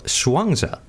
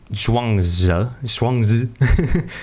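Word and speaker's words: Zhuangzi: go the path of swanga right the the the Chinese philosopher which everybody says his name wrong anyways it's like swangang if you say it in Chinese correctly but you know the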